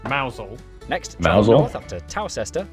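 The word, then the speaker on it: Mousehole: head over to ramfisham ransom then down to mouse hole mousel next mouse up to tower toaster and a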